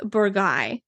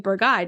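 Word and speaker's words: Bourgueil: i n o n and burgy which is b o u r gu u e i l definitely looks like bergy doesn't it uh these two sub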